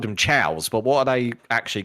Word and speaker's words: Chao: Yeah, cuz it's like they're like it's meant to be chaos cuz they're chaos emeralds. But the S is meant to be like the pluralization of them. So they're chows.